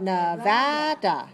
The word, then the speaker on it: Nevada: How about Nevada?